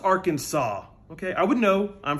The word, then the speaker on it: Arkansas: a chalkboard what am i singing no it's pronounced arkansas okay i would know i'm from benton i